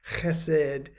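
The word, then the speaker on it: חסד: I want you to consider the word chesed, H-E-S-E-D in English, but pronounced chesed.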